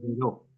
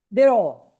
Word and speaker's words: Dero: Correcta es Deró. ¿Cómo es? ¿Cómo es correcto? La pronunciación correcta, por provenir del francés, es Deró. Dero, ok.